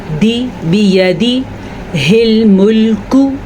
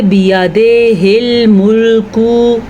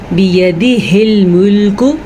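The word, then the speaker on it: بيده الملك: بیدی ہل ملکو، اگر آپ پڑھتے بیادے ہل ملکو تو آپ بالکل غلط پڑھتے ہیں۔ آپ زبر زیر کو بگاڑ کے اس کا تلفظ ہی غلط کر دیتے ہیں اور مطلب بھی غلط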